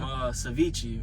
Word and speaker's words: ceviche: Tried some ceviche, and that's how you say it. Yeah, ceviche.